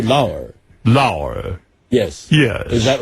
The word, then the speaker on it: Lauer: What is the correct Well, let me pronunciation? hear you say it. I say Lauer.